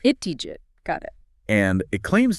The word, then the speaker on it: ItthiJit: It's ItthiJit, with the stress on the jit. ItthiJit.